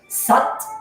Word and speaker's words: Sat: When you chant Sat, it's almost like S-U-T, like butt mom. That's what it rhymes with. Sat, your navel becomes engaged.